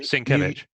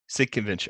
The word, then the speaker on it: Sienkiewicz: Sienkiewicz. Sienkiewicz.